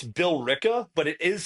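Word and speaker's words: Billerica: It's Bill Ricka but it is spelled Berica. It's Bill Ricka.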